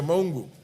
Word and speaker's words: Mongu: sorry yeah honorable mongu mongu sorry that is a correct pronunciation yeah mongu thank you chair chair